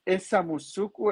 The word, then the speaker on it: Samussuku: ¿Es Samusuku la pronunciación? Sim, isso mesmo, Ok, Samusuku.